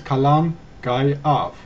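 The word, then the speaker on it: Calan Gaeaf: Britons and is known as column guy off pronounce column guy off the festival of Samhain celebrates the end of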